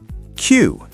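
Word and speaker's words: queue: Word number 10, Q. Q-U-E-U-E. That's 4 letters? Wait, 5? Q-U-E-U-E. What does that even sound like? It sounds like the letter Q, just Q.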